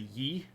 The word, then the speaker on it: Yi: groups in this region uh there's also the ye which is just spelled Yi uh who are